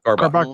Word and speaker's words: Karbach: Kyle actually sent me some Texas beers, so I'm drinking Rodeo Clown by is it pronounced Karbach? Yeah, Karbach Brewing Company out of Houston.